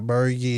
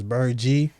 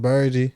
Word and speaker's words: Burgy: real Bergie b-u-r-g-y and that's how you pronounce my name it's not bergy it's bird G uh I'm just saying somebody to miss his name yeah somebody go look they're gonna be like yeah you heard a birdie like who's bergy but uh it is pronounced burgie I know our streaming